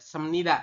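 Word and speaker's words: 습니다: matnida kita membacanya matnida ingat-ingat ya sem bukan se Kenapa B di akhir ketemu dengan ni Di tengah ini maka si B berubah bunyi menjadi m seperti itu itu aturan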